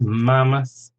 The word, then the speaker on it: mammoth: Mammoth, 2 syllables, stress on the first, mammoth.